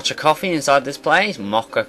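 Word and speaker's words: Moccha coffee: we uh found some MOA coffee inside this place mocka coffee of course see say it properly um and then and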